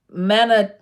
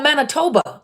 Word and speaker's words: Manitoba: you guys hola we keep you guys up mana Manitoba Oh Manitoba okay thank you job pronounce it the way to look nice said